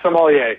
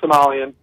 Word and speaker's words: sommelier: Jason, are we pronouncing that correctly, sommelier? Yeah, sommelier. Yeah, that's it's not Somalian.